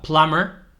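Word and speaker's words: plumber: trades We have a plamer veis que no se pronuncia la b plasmar welter un soldador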